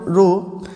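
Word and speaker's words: rho: इसको हम पढ़ते हैं, इसको हम प्रोनाउंस क्या करते हैं, वी प्रोनाउंस इट रो।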